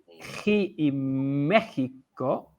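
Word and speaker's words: México: and i say so this mexico is the same as that g in argentina okay so as you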